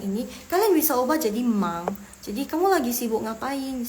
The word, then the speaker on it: 忙: Tadi kan Laoshi udah ketik yang mang. M-A-N-G nada keempat. Sorry, nada kedua. Nada kedua, mang.